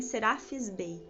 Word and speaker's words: Serapis Bey: os direcionamentos no raio branco, ele se chama Serapis Bey, tá? Talvez vocês vão encontrar pronúncias que falem Serapis Bey, mas é o mesmo ser, tá?